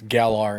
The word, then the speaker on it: Galar: I mean, it's Galar in region. You have the R.